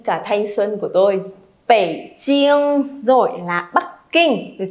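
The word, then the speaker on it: 北京: Bèn chiên. Không được bật hơi đoạn này đâu nhá, không được phẩy đâu. Đọc lại nào. Bèn chiên.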